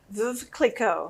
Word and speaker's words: Veuve Clicquot: So tonight, while she's opening our champagne, how do you pronounce it again? Veuve Clicquot.